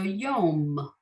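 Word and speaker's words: יום: wrote in other words the yud sounds like a y and that vav with the dot on top is the vowel it's coming before so it has to sound like the y and then you just have the memso feet so yom that's how that's that's literally how you get there okay yes okay mary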